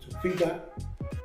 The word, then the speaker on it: Tofiga: A lot of people pronounce it Tofiga because we pronounce our G's with like there's an N before it.